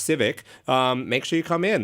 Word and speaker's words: CVCC: I heard it's pronounced Civic.